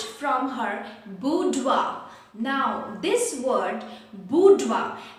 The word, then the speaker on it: boudoir: parsonage right from her boudoir now this word budwa actually it is a french word okay it is a